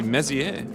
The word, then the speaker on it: Messier: Actually, Messier.